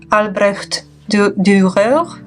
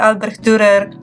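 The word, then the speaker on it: Albrecht Dürer: This is Faber Castell Albrecht Durer. The Albrecht Durer. I will speak normally because I don't pronounce German R correctly.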